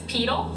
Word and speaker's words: pedal: body part adjectives 12 this adjective referring to the foot is properly pronounced to rhyme with needle Mackenzie what is pedal yes by protected is